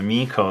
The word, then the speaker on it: Meiko: read the hiragana that we've got both the Meiko here and the Miko, the way she pronounces it, in the same illustration.